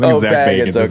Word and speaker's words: Bagans: I think his name's Zach Baggins. I think it's pronounced Bagans. I think Zach Bagans is his name.